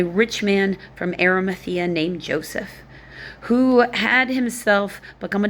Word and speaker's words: Joses: So it's not Jesus. It's spelled like Jose. So also I'm going to say it, Jose.